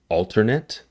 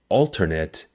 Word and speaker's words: alternate: For the noun and adjective form, the pronunciation of alternate is the same. Alternate, alternate. The stress is on the first syllable. For the verb form, the pronunciation of alternate is different. The stress is on the last syllable.